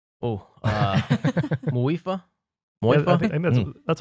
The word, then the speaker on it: Muifa: Oh, Muifa? Yeah, I Moifa? think that's what you heard, right, George? You listened to that video? M-U-I-F-A. M-U-I-F-A. Moifa.